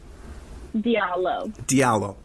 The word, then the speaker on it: Diallo: am I pronouncing that correctly? Diallo.